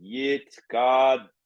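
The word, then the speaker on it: Yitgadal: So you have to give the upbeat, subdividing Yit Gadal, pronouncing the L.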